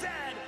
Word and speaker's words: zed: And it is pronounced Zed, not Z-Z.